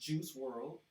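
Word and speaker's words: Juice WRLD: professionally as juice world pronounced juice world I guess the O was left out in spelling was an American rapper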